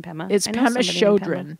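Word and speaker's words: Pema Chödrön: all I looked up Pema children's how to pronounce her name today yeah I like the name Pema Chodron Pema Chodron and she goes to burr sure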